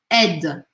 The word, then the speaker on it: aide: Não é para pronunciar este I, porque este I, ele faz uma matemática das letras, o A e o I juntos viram E. E aí eu falo aide, aide, não aide, tá?